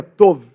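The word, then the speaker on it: טוב: gente seria um B é a palavra tob mas a pronúncia correta seria tov por exemplo toval lilá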